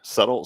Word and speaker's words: subtle: subtly sure subt subtly subtle subtle it's one of those weird words that spelled with s u BT suddenly salad remember that